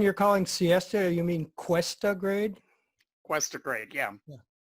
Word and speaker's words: Cuesta: Oh, the interesting thing about the Siesta one, it was a military train. It was just loaded Cool. with all these armored vehicles. cool. The one you're calling Siesta, you mean Cuesta grade?